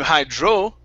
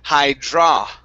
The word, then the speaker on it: hydraulic: Okay, instead of hydro, it's hydra. Hydraulic.